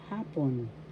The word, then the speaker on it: hapon: And then you will say again magandang hapon. That means good afternoon. Hapon. First syllable ha, second syllable pon, The first syllable has the accent. Hapon, that means afternoon.